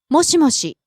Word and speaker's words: もしもし: もしもし、もしもし、 Starts high, drops on the second syllable, she stays low. もしもし、 Next we have 大丈夫、 all right, okay.